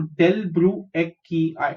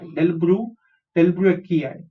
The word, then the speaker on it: delbrueckii: DL is del, BRU is brew, EC is ek, KI is key, and last में जो I है वो उसको आई ही प्रोनाउंस करेंगे. सो डेल ब्रू एक्की आई, डेल ब्रू एक्की आई.